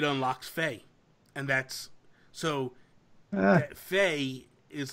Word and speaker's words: Fe: at this point with Fey but sorry FEA stupid Swedish nonsense hey I'm just trying to pronounce it the way they say it the game does this